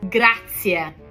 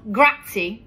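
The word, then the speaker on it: grazie: stop mispronouncing these words in Italian this one grinds my gears graia gra graia thank you it's not grati graty you're going to give an Italian a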